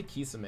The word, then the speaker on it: Kisame: I say Kisame because I'm pretty sure that's how it's pronounced, but I hear Kasame a lot.